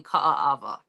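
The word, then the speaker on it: Kaaawa: now I'm actually in Ka Ava so that's Three A's k a a a w okay I'm just going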